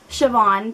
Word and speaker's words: Siobhan: this author's first name name and it is pronounced Siobhan because I went to school with someone who spelled it like that and that's burn for Burn by Jenny Han and like I said Shon Vivien and um I don't really know what